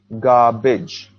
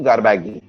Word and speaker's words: garbage: garbage two parts and the stress here is on the first part word is environment now